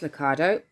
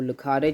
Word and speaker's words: Lucado: a common caterpillar by Max Lucado or Lucado depending on your how you pronounce it it's one of Judah's